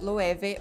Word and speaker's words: Loewe: name that is why many people are confused about the pronunciation of the name the correct way is lueve with a v number nine kraft is